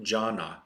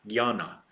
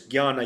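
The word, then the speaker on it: Jnana: is Gan yoga JN n a it is pronounced it's not Jana it's Gan Gana so there is Gana yoga for this purpose uh I mean those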